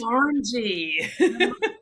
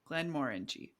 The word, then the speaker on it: Glenmorangie: Glenmorangie. Glenmorangie.